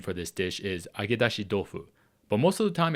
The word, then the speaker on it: agedashi dofu: And the T in tofu is pronounced more as a D in this case, and that goes more into learning the Japanese language itself, which I won't get into here.